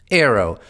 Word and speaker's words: AARO: name the all domain anomalies resolution office Arrow pronounced Arrow which it adopted by administrative decision earlier this